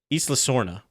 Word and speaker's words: Isla Sorna: how you pronounce isla i've always thought it was isla like island but without the nd and that's how john